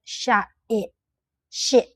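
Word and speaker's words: ရှစ်: We call Here you will see the Burmese eight, but we don't pronounce t sound. I just say Sh i sound, i sound like that. Sh i.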